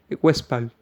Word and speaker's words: Westphal: Se escribe Edinger-West, como oeste en inglés, P-H-A-L, Westphal.